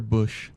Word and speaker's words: Buscht: Tayne, what would you bring to office that you feel Mr. Busch, T is silent, of course, wouldn't?